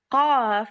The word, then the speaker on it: ق: It can actually be pronounced like a K with the tongue farther back, with the tongue like K. When you pronounce K, the tongue is not back much, but when you pronounce Qaf, the tongue is back much, just like the image here.